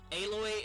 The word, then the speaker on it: Aloy: with alloy shush yeah aloy is fine she is fine like not every girl has to look like a model yeah okay that's how you pronounce her name well um by